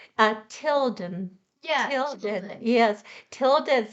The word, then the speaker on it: Tilden: No, it would be pronounced Tidden without the Tidden. Oh, that's right. Tilden. Yes. So with L, Tilden.